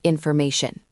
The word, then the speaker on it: information: Let's try it with the word information. The stress is on may infer may. Everything except may is weak.